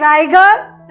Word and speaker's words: Riger: Here we see the word Raigad rhymes with the word tiger and the word ride rhymes with the word inside.